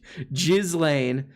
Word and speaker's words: Ghislaine: Ghislaine, so you're in prison now.